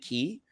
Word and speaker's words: quai: Key. Like the key energies. Yeah. But it's spelled QUAI, so I screwed that up. Oh no, listen, it's French.